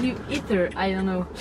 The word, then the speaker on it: Ae:ther: should I call you Ether? I don't know. It's ether. It's ancient word. It's Greek word. Yeah. So it's ether, basically. Okay. So because you don't pronounce the A.